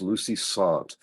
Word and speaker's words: Lucy Sante: I should say, by the way, sorry to be an idiot here, but it's Lucy Sante. I've been correcting people and pronouncing that for most of my life, and yet I still forget to do it.